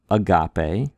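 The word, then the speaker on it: ἀγάπη: And so, for example, the word agape, right? Agape. We're trying to put a little more oomph on the ga. Agape. Agape, the word for love.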